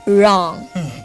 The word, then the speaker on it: wrong: And the next one is wrong. Here, it's also the silent letter is W.